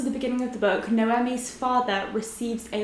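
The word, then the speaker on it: Noemí: So in this book we follow our main character Noemi. I had a comment which told me that you are pronouncing it with the emphasis on the me rather than the M, but I'm not entirely sure that I'm pronouncing it right.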